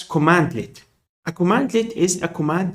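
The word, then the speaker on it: cmdlet: is called CM delete pronounced as commandlet a commandlet is a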